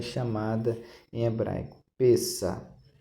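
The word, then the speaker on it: פסח: é chamada em hebraico pessa se escreve pess mas se fala pessa essa é a Páscoa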